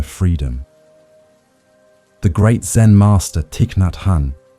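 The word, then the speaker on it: Thích Nhất Hạnh: The great Zen master Tiknathhan whom we can call Tiknat Han for ease of pronunciation often reminded us breathing in I calm my body.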